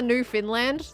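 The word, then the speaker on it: Newfoundland: new Funland new Funland I'm always trying to like copy your pronunciation but of course you get more of a Canadian pronunciation new Funland I feel like that would be no no Finland no Finland new I I tend to go for the New Finland type pronunciation new Funland nothing fa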